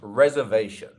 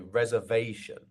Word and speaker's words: reservation: next up we have reservation reservation the part that sounds like V is our stress syllable here so Reserve our third syllable I have a reservation not reservation or reservation reservation you see um okay